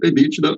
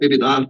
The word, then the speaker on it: EBITDA: E o primeiro deles é o EBITDA, ou EBITDA, né, depende da forma com que as pessoas gostam de pronunciar, que basicamente é o lucro antes da depreciação, dos juros e dos impostos.